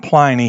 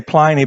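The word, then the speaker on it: Pliny: plyy I call him plyy he was a governor in the Roman province and I say plyy because it rhymes with whiny and it's funny in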